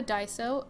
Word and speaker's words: Daiso: look at so if you do have a die so it's spelled da I s Oh and they have